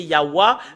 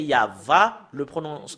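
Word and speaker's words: יהוה: prononcer concernant la vérité, c'est normalement, d'après les Européens, c'est Yahwa, mais si nous revenons à l'hébreu ancien, c'est Yahva, la prononciation.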